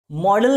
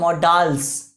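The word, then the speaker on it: modals: तो guys मॉडल नहीं होता वो, मॉडल तो जो आप समझते हो वो होता है, इसको रियल में क्या बोला जाता है, मॉडल्स। क्या बोला, प्रोनाउंसिएशन क्या है इसका, मॉडल्स, राइट। या फिर ये ना बोलना हो तो ये बोलो मॉडल ऑक्सिलरीज, सिंपल, लेकिन मॉडल तो कभी नहीं होगा।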